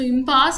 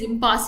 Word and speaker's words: impasse: So impasse is actually a difficult situation. It's a very difficult situation where some of you all will read as impasse.